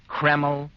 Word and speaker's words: Kreml: never greasy or sticky it's spelled k r m l keml hair tonic now Dr